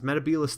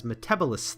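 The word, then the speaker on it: Metebelis: of the spiders the problem is the doctor mispronounces meta Bayless 3 as metabolise 3 and it just grates on the ears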